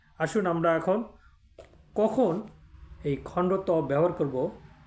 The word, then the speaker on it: খণ্ড ত: এই বর্ণটিকে অনেকে খণ্ডক্ত বলে থাকে। প্রকৃতপক্ষে বর্ণটির বর্ণপরিচয় হলো খণ্ড ত, মানে খণ্ড বলে তারপরে ত উচ্চারণ করতে হবে। খণ্ডক্ত একবারে বলা যাবে না, বললে এটি ভুল উচ্চারণ হবে।